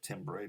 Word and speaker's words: timbre: Timbre, looks like timbre, but it's pronounced timbre, it's a French word.